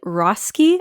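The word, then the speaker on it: Roeske: and finally we have Emily rosi I believe is how you pronounce that she played the youngest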